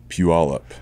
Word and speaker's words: Puyallup: Proper pronunciation for the city in which you were born in Washington. Puyallup.